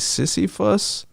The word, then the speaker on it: Sisyphus: So we watched it's pronounced like Sisyphus.